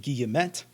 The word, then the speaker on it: guillemet: is unfamiliar enough that i can get away with pronouncing it in both french and english so i pronounce it guillemet and don't quote me